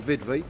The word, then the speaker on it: VVD: There we go, look, 20,000 milliamps, VVD if you don't mind, yeah? Or VidV as we pronounce it.